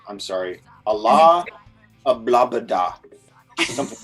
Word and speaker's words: Alaa: First name Allah.